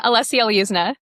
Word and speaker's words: Olesya Lyuzna: Yeah, Olesya Lyuzna. Olesya Lyuzna.